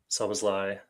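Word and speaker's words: Szoboszlai: Um the three that I can think of are Salazi, Sazlai, um those are one player. Just learned how to say it right the second time.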